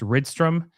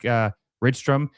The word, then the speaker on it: Rydström: I think it's Rydström. I would assume that's how it's pronounced. A Swedish name, Henrik Rydström.